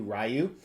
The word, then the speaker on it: Ryu: Yeah, that's how I pronounce it, Ryu.